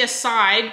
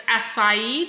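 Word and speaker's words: açaí: got all jokes acai so it's supposed to be a side but it's it's spelt like it's acai like the acai bowls can you see that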